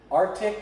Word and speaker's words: arctic: it's a misspelled word arctic is arctic but this is silent you can't hear it because the ocean arcs